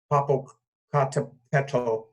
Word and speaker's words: Popocatépetl: I must say, Waldo, I recognize that 3 days before that conjunction in January, and I hope I can pronounce it correctly, Popocatépetl.